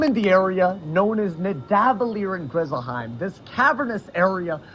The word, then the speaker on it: Nidavellir: I am in the area known as Nidavellir in Grizzleheim. He just said Nidavellir. That is the wrong way of. That was the wrong pronunciation, brother. It's Nidavellir.